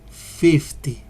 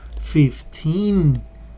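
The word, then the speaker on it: fifteen: And he says, I am 50. Oh, 50 in high school. No, no, no. 15. That is the correct pronunciation. So we have to be very careful to pronunciate these numbers, especially because all of these, starting from 13 to 19, they are with this ending, teen.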